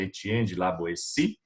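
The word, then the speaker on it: Étienne de La Boétie: pronúncia no francês é Etienne de la Boétie, foi um jovem, uma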